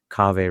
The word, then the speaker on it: Kaveh: So what is Kaveh rhymes with agave?